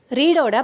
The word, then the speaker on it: read: இதில் 3 ஃபார்முக்குமே ஸ்பெல்லிங் ஒன்று அப்படின்னாலும் ரீடோட பாஸ்ட் ஃபார்மையும் பாஸ்ட் பார்ட்டிசிபிள் ஃபார்மையும் ரெட் அப்படின்னு தான் உச்சரிக்கணும்.